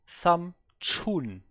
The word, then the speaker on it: 삼촌: 삼촌, 삼촌, She's saying it like Samchun.